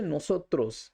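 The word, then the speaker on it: nosotros: এখানে একটা জিনিস লক্ষ্যীয় যে ইংরেজি যে উচ্চারণটা রয়েছে তার মধ্যে আমি সো এসও এইচ ওটাকে আমি ক্যাপিটালাইজ লিখেছি। অর্থাৎ এই শব্দটা উচ্চারণ করার সময় সোর উপরে আপনাদেরকে জোর দিতে হবে। অর্থাৎ এম্পাসাইজ করতে হবে।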